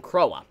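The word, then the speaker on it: Croix: you pronounce the name I was calling her Crow last week but I think you pronounce her name Cowa but anyways the new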